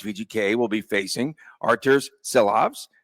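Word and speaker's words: Silovs: so this means vgk will be facing arur s loes right did I say his name correctly she loves she loves okay she loves Aiden Hill will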